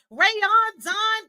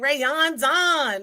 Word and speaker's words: Rayondon: key touch the podcast so excited to have rayon Don Kennedy director of operations for career communication group